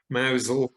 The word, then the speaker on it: Mousehole: Um, it's really, um, get in touch with us at Chelonia, Chelonia limited, in Mousehole, there's not many of us in Mousehole, or Mousehole I should say the proper pronunciation, and Joe is particularly